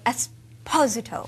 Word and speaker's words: Esposito: being here pleasure and I meant to say esposo he did it that's how this name should be pronounced thank you again you've been in the